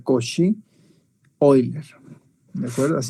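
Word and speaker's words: Cauchy: y hoy leer suscribe couch y euler se pronuncia coche hoy de fuerzas y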